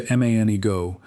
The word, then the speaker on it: Manigault: Manigault lands closer to Manigo than to anything a French speaker would produce from those same letters.